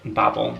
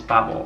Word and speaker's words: Babel: we have Babel, or as some people apparently pronounce it, Babel. Apparently that's how you're supposed to pronounce it, Babel, but it just doesn't sound right. So I'm just gonna call it Babel.